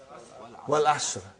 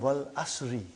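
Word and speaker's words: وَالْعَصْرِ: How do you say Suratul Asr? What is the first ayah? Wal Asr. Have you ever noted down what is written there? It's called Wal Asri. It's majroor.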